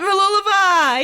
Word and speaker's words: Mooloolaba: You did it, Mooloolaba.